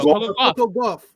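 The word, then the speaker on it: Coco Gauff: Coco Goff.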